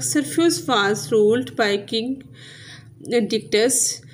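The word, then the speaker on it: Dictys: Next है pronunciation guide, जैसे ये डेने, ऐसे परस्यूस, पर सीऊस, पोलिडिक्टस, पोलिडिक्टस, मेडूसा, मेडूसा, एंड्रोमेडा, एंड्रोमीडा, ऐसे डिक्टस, डिक्टिस।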